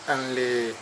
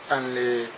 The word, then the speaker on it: อินเล: เฉ เรียก ว่า ฉอง อันเล ชื่อ ชื่อ ทะเล สัพท์ มัน ชื่อ อันเล อันเล ของ พม่า ออก เสียง ว่า อินเล อินเล อินเล นะ ชาว บ้าน นั้น